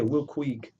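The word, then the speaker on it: Will Quigg: Meanwhile, she got endorsed by Will Will Ku, let me see, let me pronounce it right. Will Quig.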